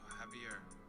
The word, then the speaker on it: Javier: No, but J is pronounced as H.